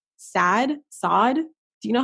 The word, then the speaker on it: Saad: Saad. Do you know how to pronounce it? I'm not sure if it's Saad or Saad. Okay, it's SAAD.